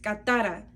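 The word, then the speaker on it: κατάρα: Esta palabra es del Strong griego 2671 y su pronunciación es katara.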